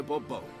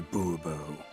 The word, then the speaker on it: Bourbon: yet as monsieur de bourbon fine monsieur de bourbon the emphasis falls on the last syllable see now i'd